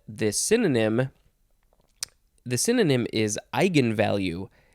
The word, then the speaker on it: eigenvalue: synonym the synonym is eigenvalue e i g e n v a l u e all one word i'm gonna say it's pronounced eigenvalue and then their next